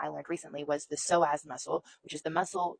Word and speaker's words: psoas: own research and the soaz muscle is the holder that is the emotional holder if you Google it. What does the soass muscle hold? The so muscle is spelled ps o a s.